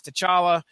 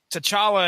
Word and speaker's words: T'Challa: with two chawla mark says Comic Vine says to chala I'm not gonna argue that T'Challa it is Ronnie Adams there's your the first